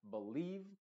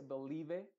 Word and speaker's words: believe: estoy refiriendo esa combinación la i va a ser muda y la e se va a pronunciar con su sonido original que es una I Entonces se diría believe Field no se dice believe o belev nada de